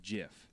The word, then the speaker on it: GIF: the gift calls it jiff mm-hmm yeah I don't understand it the guy who created it go does call it Jeff yeah otherwise why isn't it called Jeff because phonetically it's gif favorite peanut butter well